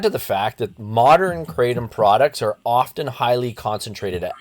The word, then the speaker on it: kratom: So, when they say, "I just take kratom," which is spelled k r a t o m, not craptom or something else, but kratom, that could mean anything